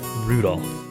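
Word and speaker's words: Rudolf: It's just Anyway, this guy's name is pronounced Rudolph.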